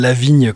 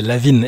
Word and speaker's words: LaVine: 2000 c'est vrai c'est Lavine la av V il faut bien prononcer Lavine d'ailleurs comme si comme comme s'il était français c'est un nom d'origine d'origine française Zac Lavine j'avais assisté